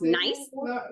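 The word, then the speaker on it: gneiss: one this is nice I know it looks weird it's g-n-e-i-s-s it's pronounced nice and it's banded yeah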